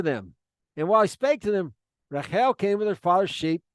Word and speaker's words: Rachel: behold Rael or Rachel it's really Rael is the right way to pronounce we might go I might say Rachel sometimes though Rael his daughter